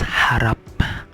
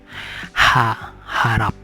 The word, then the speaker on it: harap: And then this one is harap. So the H is pronounced clearly. It's not it has a sound, so some languages doesn't pronounce H like H. So harap, it means hope.